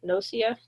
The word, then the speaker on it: gnosia: So, or uh, nosia, knowing. So, the G is silent there.